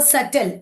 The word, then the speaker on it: subtle: हमने initially letter B देखा था, तो सटल, SUBTLE, तो टी कब आ रहा था? बी के पहले, है ना। तो बी, जो बी टी से पहले आ जा रहा है ना, तब वहां पे बी साइलेंट हो रहा है।